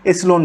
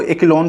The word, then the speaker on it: echelon: कैसे पता करोगे, ये देखो, तो चाहे आप इसको एसिलोन फॉर्म बोलो, ठीक है, देखो प्रोनाउंसिएशन में कुछ लोग इसको एक्लोन फॉर्म भी बोलते हैं, तो आप प्रोनाउंसिएशन पे मत जाना, आप जो भी प्रोनाउंस कर सकते हो वो करो।